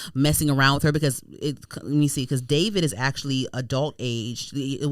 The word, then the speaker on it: D4vd: It's spelled D4vd, David or whatever.